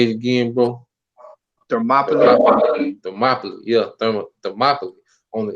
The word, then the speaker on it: Thermopylae: So I'm gonna get the war of Therma Palai, if I'm saying it right. But You say it's called Thermopylae. You talking about the 300 war? yeah, Thermopylae.